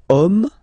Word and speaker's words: homme: then here we've got the word homme, man, okay, but then it starts with H, as in French, H is not pronounced, so the first sound that we hear is O, okay, and then it will follow the same rule.